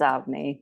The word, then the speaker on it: Avani: Yeah, Unique underscore unique Avani, underscore Avani, but it's and Avni, it's Avni, but but it's Avani.